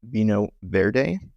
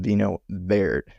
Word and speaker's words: Vinho Verde: of people pronounce this Vinho Verde, which would be correct if we were in Spain, but we were in Portugal, so this is pronounced Vinho Verde.